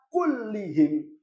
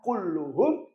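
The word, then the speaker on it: كُلِّهِمْ: Bacanya marartu bil muslimina kullihim. Marartu bil muslimina kullihim. Jangan kulluhum, jangan pula kullahum. karena taukid mengikuti i'rab sebelumnya.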